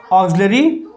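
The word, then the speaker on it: auxiliary: ऑक्सिलरी और main verb. इसका pronunciation ऑक्सिलरी, ऑक्सिलरी ये जा रहेगा। एक्चुअली यहाँ पे आधा गा और जा रहेगा।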